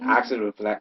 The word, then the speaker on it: Oxaliplatin: Oxaliplatin.